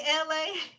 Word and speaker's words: Elay: It's me, Elay. Elay, pronounced like the city.